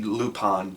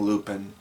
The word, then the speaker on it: Lupin: I keep bouncing back and forth on the pronunciation of that. I know it's supposed to be Lupon, but I keep saying Lupin because that's how it's spelled.